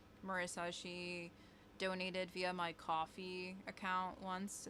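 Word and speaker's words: Ko-fi: she donated via my coffee account once. It's It's I think it's spelled Kof FF E. It's just coffee with a K and it's like a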